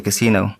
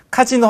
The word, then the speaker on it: casino: initial designs for the casino. To start with initial designs for the casino. 발음 조심하시고 카지노 하면 미국 사람들이 못 알아듣죠. 영어를 쓰는 사람들이 casino라고 해야 된다. S 발음이죠.